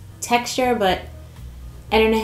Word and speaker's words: TXTR: Pronounced texture.